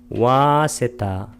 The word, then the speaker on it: 와세타: 이곳에 두 명의 발음문이 나오는데 그 첫 번째 발음문이 와세타, 빨리어로는 와세타, 와를 길게 발음해 줍니다.